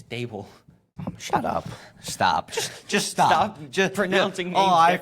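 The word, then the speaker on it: Daboll: Imagine what he's going to do in Brian Debal's Haramball system. Bro, it's Dable.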